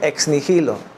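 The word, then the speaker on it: ex nihilo: Nigilo, exnilo se se pronuncia exnilo.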